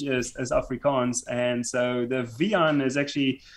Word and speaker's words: Wiehan: my native language is afrikaans and so the v on is actually it's a v sound but it's spelled w-i-e-h-a-n um and so yeah originally from